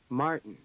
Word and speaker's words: Martin: The unstressed vowel after the t and d is a syllabic N.